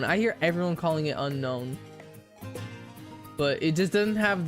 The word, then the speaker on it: Unown: But everyone calls it Unown. Unown is the Pokémon. Unown is the English word, yeah. It's it's pronounced the same. They're just spelled differently.